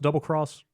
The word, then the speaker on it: Double Cross: He asked, he was surprised to find out that Monster Hunter, is it pronounced Double Cross, Yeah.